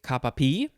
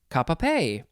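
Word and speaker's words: cap-à-pie: have uh let's see you could say kappa p or you could also see say kappa pay it is spelled c-a-p oh well i'll just say it's it's cap second word is just the letter a and the third word is pie p-i-e uh but they say p or pay um and then you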